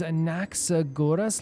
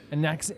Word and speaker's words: Anaxagoras: So the name is Anaxagoras. Let me hear the pronunciation again just so I can get it right for you. My name is Anaxagoras.